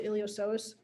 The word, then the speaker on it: iliopsoas: the iliopsoas so the the p is silent on here so you pronounce the iliopsoas these are muscles that